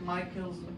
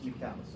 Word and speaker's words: Michaelis: You think, oh, it looks like Michael's, it's Michaelis. I even searched for it. It's pronunciation, it's Michaelis. I used to say Michael's, it's Michaelis.